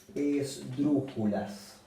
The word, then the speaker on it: esdrújula: siempre lleva tilde bueno la palabra esdrújula también es una palabra esdrújula porque se acentúa en la antepenúltima sílaba esdrújula última penúltima antepenúltima y bueno se acentúa en la antepenúltima entonces lleva la tilde en la u esdrújula Bueno hay hay